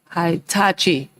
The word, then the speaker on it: Hitachi: I'm sure I'm pronouncing this wrong. Hitachi. What is it? Hitachi.